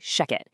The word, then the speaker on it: ShechetAI: And just so you know, that's spelled sh e c h e t, but we say shecket.